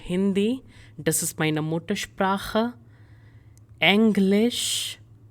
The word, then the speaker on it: Englisch: Englisch. So here you need to make sure you're not pronouncing this as English. English is the correct pronunciation.